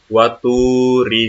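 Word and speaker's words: وطور: Ketika kalian menemukan harokat doma, lalu setelah harokat doma ada huruf wawu mati, ada huruf wawu yang berharokat sukun, maka dibacanya agak panjang. Ya, agak panjang dibacanya. waturi sinina.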